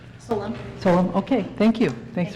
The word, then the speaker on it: Solon: Did I pronounce that correctly? Solon.